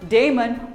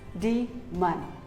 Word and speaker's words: demon: It is not daemon or demon, it is demon, demon.